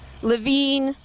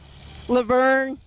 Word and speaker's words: LeVine: They may pronounce his name wrong. Levine, Laverne, Lavigny. I've heard it all.